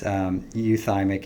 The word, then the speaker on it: euthymic: Did I say that right? It's dysthymic, and then it's euthymic and euphoric. I said it wrong first time.